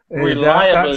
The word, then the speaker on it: reliably: Reliably. That syllable is lie, so reliably.